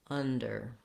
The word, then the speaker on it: under: Initially, you may have to do kind of more under with a little bit more stress on each. Learning to lighten up on that der syllable, under, is the challenge.